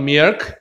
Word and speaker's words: milk: There is some milk. 발음 잘해야 돼.